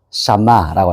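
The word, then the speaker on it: שמע: 샤마라고 하죠. 샤마, 이제 여기서 보면, 샤마, 여기는 묵음이죠. 샤마, 여기서 듣다라는 뜻인데, 이게 듣다라고 번역하시면 단어의 뜻이 엄청 많아요.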